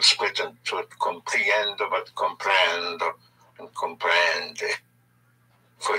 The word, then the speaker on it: comprendo: The O is pronounced O like in obey. So, comprender, to understand, I understand would be comprendo. Comprendo.